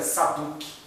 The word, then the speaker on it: Zadok: a classe dos saduceus, que Zadok se pronunciaria Saduque. Saduque, que foi dando origem à palavra saduceu.